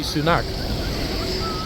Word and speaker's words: Sunak: own prime minister guys I know that officially in his passport he's Rishi sunak but I personally have